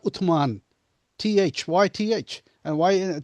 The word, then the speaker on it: Uthman: Usman is Usman, but it's not Uthman.